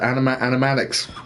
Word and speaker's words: animatics: there uh hey there we go animate anime animatics that's how you pronounce it look at this rough sketches of